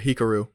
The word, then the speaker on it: Hikaru: Grandmaster Hikaru.